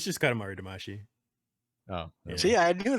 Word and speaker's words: Katamari Damacy: Katamari Kamachi. Kamachi. Something like that. Yes. Calamari Karachi. Some fucked up, yeah. Some I can't pronounce that name. Is it We Love Katamari? It's just Katamari Damacy.